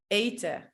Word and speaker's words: eten: When we speak at a normal speed and with other native speakers, we don't pronounce the N and the E sounds like a. So we say lopen, eten, werken, mannen, pennen, rennen.